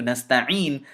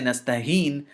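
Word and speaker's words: نستعين: to correct it to nasta'een, and he cannot continue to say nastaheen, is because nasta'een means to seek assistance or to seek help from, but nastaheen means to insult.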